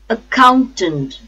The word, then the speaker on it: accountant: first syllable AG accident accountant accountant a four syllable count second syllable and third syllable the stress is on second syllable count accountant count accountant achievement achievement a chief